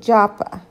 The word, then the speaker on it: Jaffa: But then we got back on the bus, and we went down to, it's called Jaffa, but we pronounce it Joppa.